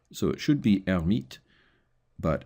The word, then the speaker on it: Hermite: French, and in the English language, people mostly mispronounce it was "hair-mite." So it should be Hermite, but it's usually pronounced "hair-mite."